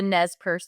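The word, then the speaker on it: Nez Perce: it but I'll try the NES Pur tribe okay so it's Nez p r CE spelled in English and it's a tribe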